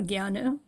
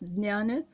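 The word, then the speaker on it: jnana: uh the two terms you mentioned karma and the other nana or ghana it's pronounced in two different ways in Sanskrit it's nana Hindi our modern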